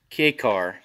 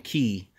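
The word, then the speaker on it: kei: It's a Japanese turbo K-car, K-E-I. A lot of people pronounce it wrong, saying key. But it's K, it's a K car, K-E-I.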